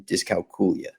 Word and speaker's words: dyscalculia: as I'm aware that the proper pronunciation has always been discula okay and what exactly